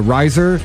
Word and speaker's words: Rizor: And it's Rizor, like Razor with an I.